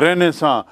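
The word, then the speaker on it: Renaissance: जाने इसको अंग्रेजी में रहने भी कहते हैं रेनेसां और लेने I double S ए एन सी उच्चारण देखिए रहने सॉन्ग रहने सा मतलब पुनर्जागरण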